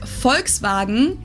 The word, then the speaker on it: Volkswagen: f VW F but even if we did go by the full name it would be pronounced Volkswagen and not Volkswagen so just just imagine that it was spelled with an f and V yeah like with an F vagen this literally people's car